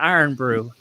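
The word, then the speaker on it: Irn-Bru: It's spelled IRNBRU, I think, something like that. Iron brew.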